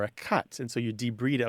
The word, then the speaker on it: debride: e b r i d e but it's pronounced debed and it's removing damaged tissue from uh or or trash or foreign objects from a wound or a cut and so you de breed it like for example if you get a